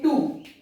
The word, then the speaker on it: two: एक वर्ड लेते हैं टू, हम लोग सभी जानते हैं TWO, टू। इसमें साइलेंट क्या है? W साइलेंट है।